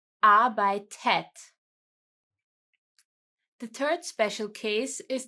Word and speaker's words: arbeitet: Here, the normal conjugation is the T, as seen in red again, but we are adding an E again to pronounce it easier. Arbeitet.